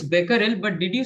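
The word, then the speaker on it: Becquerel: not quite hurry oh it's not beerel it's Beckel but did you say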